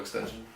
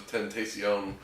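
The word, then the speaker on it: XXXTentacion: I didn't ever realize it was Tentacion. I just always was like extension probably works.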